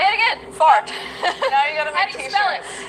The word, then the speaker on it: fart: Fart. She said it. Say it again. Fart.